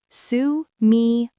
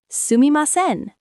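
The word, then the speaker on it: すみません: Let me say it slowly. Sumimasen. Sumimasen.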